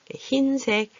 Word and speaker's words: 흰색: 흰색, 흰죽 이렇게 소리가 나요.